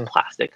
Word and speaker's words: Plastiq: So we use Plastic. It's spelled PLASTIQ, which allows you to